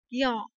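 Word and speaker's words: 行: Thì khi mà nói là hàng ấy thì chúng ta sẽ đọc là gyo, nhé, gyo.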